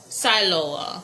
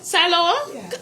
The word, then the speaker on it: Siloah: but when I entered Siloa Yeah. Am I saying it right? Yeah. Siloa. Oh cuz before me used to say silo.